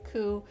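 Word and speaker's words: 九: a fourth floor okay the number nine and the word pain also share the pronunciation coup though not as unlucky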